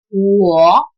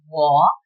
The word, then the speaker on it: 我: I is pronounced as 我 in Mandarin Chinese. I is pronounced as 我 and it is written with 7 strokes.